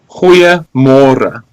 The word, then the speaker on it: goeiemôre: Well, it's goeiemôre. So good morning is goeiemôre. Yeah, I tend to put more emphasis on the G.